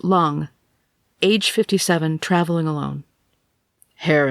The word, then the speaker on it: Lang: person's report please valerie l-a-n-g pronounced like lung age 57 traveling alone